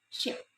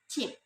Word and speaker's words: ship: In English, this word should be pronounced ship, but it is then pronounced chip by the learners.